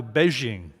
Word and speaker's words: Beijing: So in order to honor them, we've changed the way we pronounce it now to Beijing.